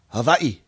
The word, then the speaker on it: Hawaii: Actually, they say it like this, Hawaii.